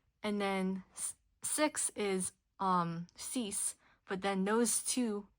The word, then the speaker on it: six: And then six is um cease. But then those two it's in English we write it out the same way six. But you pronounce the X of course as an S.